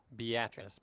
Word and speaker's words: Beatrice: It's called Beatrice, pronounced with ah.